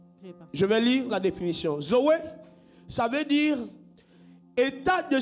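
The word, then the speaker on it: ζωή: Il se prononce Zoé.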